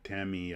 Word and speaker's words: Tamiya: say it like this because they don't inflect like we do like we say Tamiya or Tamia and she's like no I would just be Tammy uh you know there's